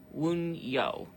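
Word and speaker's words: Wunjo: But P is the joy one, and it's pronounced Woon, like Woon, and then Yo, Wunyo.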